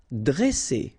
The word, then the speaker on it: dresser: Vowel, vowel, double S, so you pronounce it really strong like S, okay? Dresser. And then when you get a double consonant after a, you open the sound of the so it will be like e, dresser.